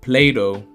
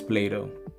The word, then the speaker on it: Plato: leave you with this Plato some people might pronounce this as plat but I think it's Plato one said for a man